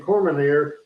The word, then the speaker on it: Cormier: Daniel Cormier, I mispronounced the name, Cormier, the special referee from the UFC, did a great job refereeing.